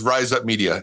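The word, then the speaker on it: Rize Up Media: Our company is Rise Up Media, spelled with a Z.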